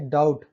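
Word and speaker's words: doubt: Rule number 4 है, यदि शब्द के अंत में बी टी आता है तब बी साइलेंट होता है। यहाँ पर देखिए डाउट, डाउट कहाँ पढ़ रहे हैं, डाउट, डेप्टर, ठीक है।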